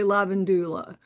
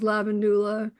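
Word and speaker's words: Lavandula: Some people say lavendulla. Again, you're going to all you're always going to get that change in pronunciation depending on who taught it to you or where you might have learned your Latin.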